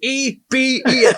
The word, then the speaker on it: Eben: It's Eben Alexander. Thank goodness. His first name is Eben, E-B-E-N. For the last week, I called you Evan.